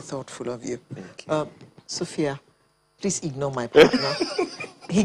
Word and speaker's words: Sophy-Yah: Sophy-Yah. It's the same pronunciation, but just different spelling.